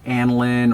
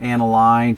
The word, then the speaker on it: aniline: corrected grain leather to aniline or aniline, depending upon who you asked. It can be pronounced different ways.